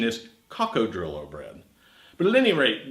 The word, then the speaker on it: coccodrillo: I'm making the bread sometimes I call this Krakow trillo bread the correct pronunciation is kako trillo bread but at any rate this bread is